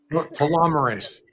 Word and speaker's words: telomerase: He was at the helm of the team that discovered human telomerase. Is that how you pronounce it? Telomerase, but all Telomerase. pronunciations are correct.